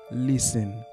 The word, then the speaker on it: listen: Une nan pi bon façon pour prononcer mot ça en anglais, c'est pas prononcer lettre T. Fait comme si lettre T a pas existé même.